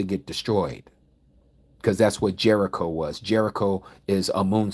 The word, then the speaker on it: Jericho: Cuz that's what Jericho was. Jericho is a moon city. The word Jericho is how we pronounce it, but it's yakco. Yarak in Hebrew is moon.